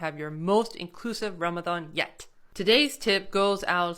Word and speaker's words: Ramadan: because I like that it notes that it's not a hard D sound however more commonly you